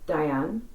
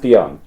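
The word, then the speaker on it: Dhyan: Can you explain the relationship between the spiritual inner light, Diane, and Dion, yes. Dion. Sorry? It's pronounced Dion.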